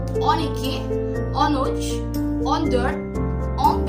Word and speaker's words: dört: Dört. Jadi pengucapannya dört. Jadi O-nya itu ada titik dua di atas.